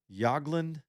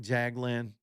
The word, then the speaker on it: Jagland: Uh I think the way he pronounced his last name is Yagland. It looks like Jagland, but in Norwegian it'd be like Bjorland.